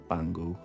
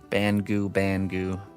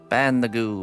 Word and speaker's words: Bangu: See you this evening, Bango. Bangu. There, said it right for once, all right? Just for you. Ban the goo.